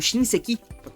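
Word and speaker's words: 新世紀: Mas, as palavras Shinseki não significam, ou Shinseki, eu acho que é a pronúncia mais certa, não significam novo começo, mas sim novo século.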